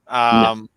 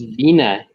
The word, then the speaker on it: Virna: Virna Jandiroba, first round. No, it's Vina Jandiroba. R is silent.